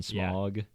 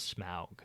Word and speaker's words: Smaug: But I do think Smaug sounds cooler than Smog. Because Smog just sounds like smoke. Yeah, smoke fog. Yeah. Yeah, that's so fair. We'll say Smaug. Yeah. Canonically on Cool. Oliphaunts Motorcycle Club, the pronunciation is Smaug.